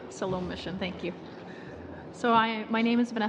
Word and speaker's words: Siloam: Gamblin with the Salome mission. I might not have that pronounced right. Go ahead. Yes, you did. Salome mission.